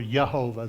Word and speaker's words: Jehovah: And she talked about in the Daily Word, Leah, uh, Jehovah, Jehovah Shalom or Yhovah. They didn't pronounce the J's back in the day.